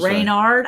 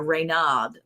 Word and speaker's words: Raynaud: what you were trying Reynard I thought there was an r in there Raynaud Syndrome yeah he does his fingers